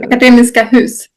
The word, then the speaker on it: Akademiska Hus: Hash, how do you pronounce this? Just for me to... Akademiska Hus.